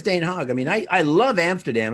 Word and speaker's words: Den Haag: Den Haag. Yeah, I can't remember which one that was. We're so American the way we pronounce that. I think it's Den Haag.